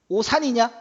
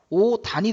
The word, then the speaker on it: 옷안: 옷안은요? 오산이냐? 오산에 이상하잖아. 어떻게 해야 돼? 오단이 된다고요.